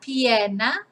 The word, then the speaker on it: pierna: Another terrible drawing, but la pierna is the leg and las piernas, the legs. Again, important to pronounce, you know, all these vowels.